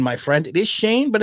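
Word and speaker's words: Schoen: shut up who's drafting seven oh it is pronounced shane my friend it is shane but it's it's spelt shown but okay maybe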